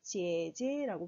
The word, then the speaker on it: 姐姐: 다음 언니 누나가 있는데 제제라고 발음합니다. 삼성경성 제제.